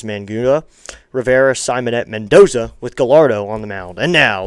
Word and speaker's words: Gallardo: That's spelled G- A L L A R D O. Gallardo. So that's the name.